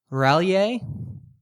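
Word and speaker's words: R'lyeh: Rallier. What? Rallier. How do you spell that?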